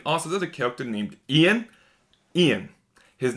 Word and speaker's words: Ian: It's not Iron, like frick, like Ian, not Iron, like Iron. They kept calling him Iron, and every time they said Iron, it drove me nuts. It's Ian!